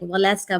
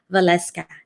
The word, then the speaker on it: Waleska: She just told me the proper pronunciation because I do see a lot of fans from around the world saying Waleska, but it's actually Waleska.